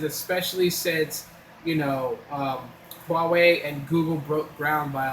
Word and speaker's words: Huawei: talking about Huawei and they pronounce it or Huawei or Hawaii. They call it Hawaii. How do you get Hawaii from Huawei? That's funny to me still. But it's Huawei.